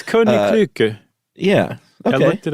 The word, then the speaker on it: Koninklijke: It's Koninklijke.